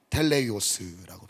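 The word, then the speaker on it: τέλειος: 이 온전하심이라는 것은 텔레이오스라고 발음을 하는데 완전한 상태죠.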